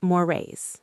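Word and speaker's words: Moraes: It's moray. Could you spell that?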